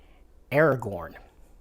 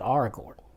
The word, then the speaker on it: Aragorn: if a name ends in an F it's pronounced with a V sound so it's Gandalf not Gandalf it's not Aragorn it's our Gordon and it's not faramir it's far Amir so